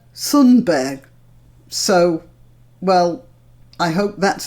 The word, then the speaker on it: Thunberg: I called her Greta Thunberg, and it turns out that the name should be pronounced more like Greta Thunberg.